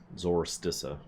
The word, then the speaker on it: Zorolstissa: Even the narrator barely pronounces the L. Zorolstissa.